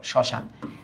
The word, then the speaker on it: শ্মশান: এটা যদি আদিতে থাকে। আদিতে থাকলে অনুচ্চারিত থাকে।